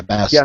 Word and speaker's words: Bast: Bast yeah Bast remember she was uh very she was very adamant about pronouncing that last T and I found out why because the last T is makes her name feminine without the the T it's masculine so that is why